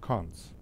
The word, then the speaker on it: cons: the construction operation which is written as a double double point and is pronounced cons so the operation ex